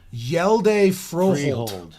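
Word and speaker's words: Hjalte Froholt: Oh, it has Jody Freehold? pronunciation. Yelde Froholt.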